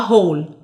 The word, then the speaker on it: whole: فده كده اسمه a whole. لما انا اشوف دي كده يبقى اعرف ان انا هقولها ايه، a whole. ال W silent فما بننطقهاش، عشان كده بنقول a whole.